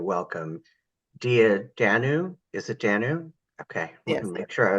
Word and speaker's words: Dannu: Is it Dannu? Okay, Yes. make sure I was pronouncing that correctly.